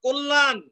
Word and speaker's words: কল্যাণ: মনে রেখো কল্যাণ, এই যে মূর্ধন্য আছে, মূর্ধন্য ন আছে, দেখো দন্ত ন হচ্ছে কল্যাণ, কল্যাণ।